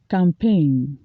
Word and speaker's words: campaign: resign for being involved in a political scandal campaign campaign they have melted a propaganda campaign against